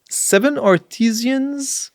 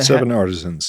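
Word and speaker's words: 7Artisans: Seven arteesians. Uh, seven artisans. Artisans. Yeah.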